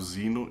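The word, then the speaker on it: Xenu: quando um governante galático chamado Zino é pronunciado Zino em inglês estava muito preocupado com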